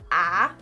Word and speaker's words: ä: And it's basically pronounced just as um kind of like a in hat.